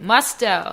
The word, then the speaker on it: Musto: Say the last name. Musto. Musto. Musto. Oh, man. Musto. Oh, it rhymes with kind of gusto a little bit.